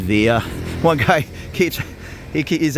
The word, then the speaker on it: villa: I'm Mexican and and any Mexican that would say v l Villa they're going to they're going to get some funny looks that's pronounced via in Spanish although I understand there's